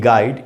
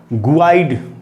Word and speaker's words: guide: Word है दोस्तों गाइड, GUIDE, गाइड, इसमें U का उच्चारण हो रहा है कहीं पर, नहीं हो रहा ना, गुआइड तो नहीं बोल रहे।